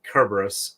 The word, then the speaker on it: Cerberus: call them that because uh Cerberus or actually Cerberus in Greek because they don't have a soft C Sound um at least an